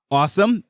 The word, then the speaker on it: OSOM: The hardware is created and designed by Awesome. So as you can see, I used that word earlier. However, it is spelled OSOM.